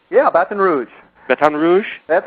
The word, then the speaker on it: Baton Rouge: Did I pronounce that right? Yeah, Baton Rouge. Baton Rouge? That's how they say it, Baton Rouge.